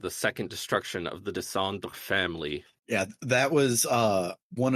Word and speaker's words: descendre: There's like 4 extra visible syllables than there are in audible syllables in that French word. Oh, Descendre?